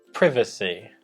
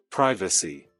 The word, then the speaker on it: privacy: Nós vamos colocar aqui a pronúncia americana e o Dave vai repetir novamente essas mesmas palavras com o sotaque britânico, com a pronúncia britânica. Privacy. Privacy.